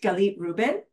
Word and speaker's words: Galit Reuben: from all over the world and how you pronounce my name uh galit galit Ruben I live in ohigh California and I'm a